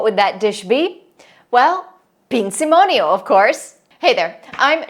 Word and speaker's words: Pinzimonio: So, Pinzimonio, pronounced Pinzimonio, is an incredibly easy,